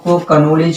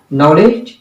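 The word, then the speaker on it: knowledge: कनाइफ नहीं बल्कि नाइफ, के साइलेंट है, औरंग नहीं बल्कि रॉन्ग, W साइलेंट है, कनॉलेज नहीं बल्कि नॉलेज, के साइलेंट है।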